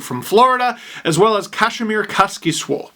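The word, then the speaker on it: Kasimir Kaskisuo: Florida, as well as Kazimierz Kaskisuo. Yes, that's how you say it. As told to me by a Finnish person, who I'm sure is very happy.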